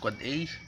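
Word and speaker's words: AAAA: n the West ipv6 address pronounced quad 8 MX a mail exchange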